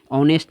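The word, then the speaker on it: honest: देखेंगे इन्हेबिटिंग क्या है ऑनेस्ट में एच का उच्चारण नहीं आता क्या आता है एच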